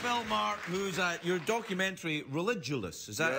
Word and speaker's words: Religulous: I'm here with Bill Maher, who's your documentary Religulous. Is that how it's pronounced? Correct. Religulous. You pronounced it correctly.